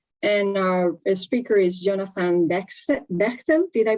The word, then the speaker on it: Bechtel: And our speaker is Jonathan Bechtel. Did I pronounce it well?